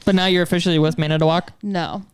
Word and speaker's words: Manitowoc: But now you're officially with Manitowoc? no. Why do you say it like that? Manitowoc. At least you didn't say Manitou because that's a totally different company.